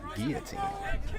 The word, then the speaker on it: guillotine: It's pronounced guillotine, by the way.